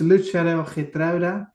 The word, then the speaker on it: Lutsharel Geertruida: Now, I'm going to let you pronounce his name because I'm struggling with this one, mate. So, yeah, his name is Lutsharel Geertruida.